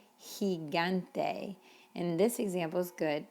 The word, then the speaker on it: gigante: In fact, when it's followed by the letter E, it's an H sound, like generoso or gigante.